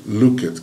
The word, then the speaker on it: looked: Então, look, looked, clean, cleaned, wait, waited. Presta atenção na pronúncia, né? No som dessas palavras. Então, o look, presta atenção, ele vai ter looked, looked, o som de T no final.